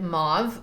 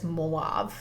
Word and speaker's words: mauve: that my husband said mauve although he can't pronounce Mau so he always says moav and but that's pretty